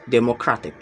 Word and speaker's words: democratic: The stress is on the third to last syllables, democratic.